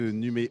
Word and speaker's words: Numeum: tenu dans votre nom à ce que numéro on prononce homme à la fin c'est sans doute pas